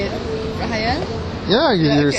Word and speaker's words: Rahayel: Rahayel, right? Rahayel, correct? Yeah. Please say it. Rahayel.